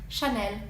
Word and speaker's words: Chanel: off with the classics Chanel which I definitely catch myself doing sometimes but actually in French the L is much softer it's on as elongated so it's Chenin it's like if the